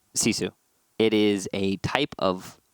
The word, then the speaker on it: GiFu: And for those of you unfamiliar with the team or the org, it is spelt GiFu and pronounced Sisu.